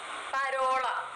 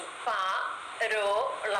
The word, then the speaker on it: parola: പരോള, അതുകൊണ്ടാണ് നമ്മൾ പരോള എന്ന് വായിക്കുന്നത്, പാരോള എന്ന് വായിക്കാത്തത്.